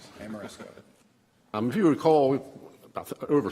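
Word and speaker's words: Ameresco: Amoresco. Amoresco.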